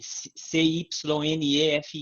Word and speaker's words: Cynefin: que ele desenhou um framework que se chama Cynefin, que se escreve C-Y-N-E-F-I-N, Cynefin, que o que fala é um modelo,